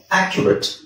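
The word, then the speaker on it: accurate: ಯಾಕೆ ಹೇಳಬೇಕು ಇಲ್ಲಿ ಅಕೌಂಟ್ ಬಟ್ ಇಲ್ಲಿ ಅಕ್ಯುರೇಟ್ ಅಕ್ಯುರೇಟ್ ಆ ಕ್ಯೂ ರೇಟ್ ಅಕ್ಯುರೇಟ್ ಅದು ಕ್ಯೂ ನು ಅಲ್ಲ ಆಕ್ಚುವಲಿ ನೋಡಿದಾಗ ಆಕ್ಯ ಜಸ್ಟ್ ನಾವು ಕ್ಯ ಅಂತ ಹೇಳಿದ್ರು ಸಾಕು ನೀವು ಯು ನು ಹಾಕೋದು ಬೇಡ ಅಕ್ಯುರೆಟ್ ಅಕ್ಯುರೆಟ್ ಓಕೆ ನೆಕ್ಸ್ಟ್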